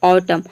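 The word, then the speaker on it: autumn: For example ऑटम। ऑटम मतलब होता है पतझड़। यहाँ पे देखिए केवल हम एम को प्रोनाउंस कर रहे हैं, एन को प्रोनाउंस नहीं कर रहे हैं क्योंकि एन यहाँ पे साइलेंट है।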